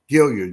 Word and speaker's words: Gilliard: Gilliard, yes, sir. Gilliard. All right. I've heard it pronounced different ways on different podcasts, so I just wanted to be sure.